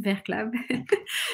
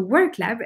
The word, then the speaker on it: WorkLab: with WorkLab, and now, which I realized I pronounced like in German, Werklab, but it's actually not correct. So WorkLab, and now we are going to move on to London.